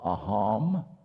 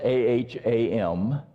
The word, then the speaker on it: AHAM: inviting me to be here on behalf of AHAM. We have some other folks here who are graduates of some of AHAM's programs. And AHAM, as I shared this morning, it's spelled, of course, A-H-A-M, and it's pronounced AHAM, not like they say